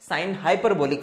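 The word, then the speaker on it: sinh: साइन h मिलके एक function है, जैसे साइन फंक्शन होता है वैसे साइन h फंक्शन है, जिसका प्रोनाउंसिएशन होता है साइन हाइपरबोलिक फंक्शन, ठीक है।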